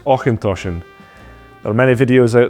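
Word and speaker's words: Auchentoshan: tongue twister it's pronounced aint toin there are many videos out there that suggest aen tosen but as we said earlier just remember the CH in Scotch dialect is often pronounced so otion oen tosan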